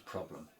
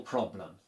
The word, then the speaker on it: problem: But remember what we say about how we need to push down on the penultimate syllable and we need to say the air as in elephant and roll the R.